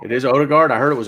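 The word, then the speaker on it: Ødegaard: get and should be announcing imminently is Martin Odegaard, or Erdegaard, I think is how you pronounce that O. It's it's a O, like Odegaard. Or Odegaard. It is O. It is Odegaard. I heard it was Erdegaard.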